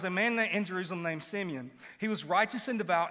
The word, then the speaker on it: Simeon: And as a matter of fact, I've been pronouncing his name wrong all week. Like, I've been saying Simon, and I was back there with Wes, and he was like, Simeon.